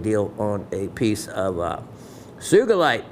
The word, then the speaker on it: sugilite: on a piece of Sugilite with the hard G.